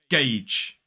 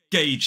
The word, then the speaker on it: gauge: Gauge. It looks like it's going to be pronounced completely differently, but this one is gauge. So it's G-A-J. Gauge. 1 syllable. Gauge. So remember that diphthong in the middle.